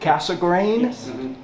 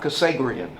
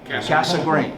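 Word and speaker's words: Cassegrain: in telescopes and that's the way you pronounce it casa grain not cassagrian right casa green yes very good thank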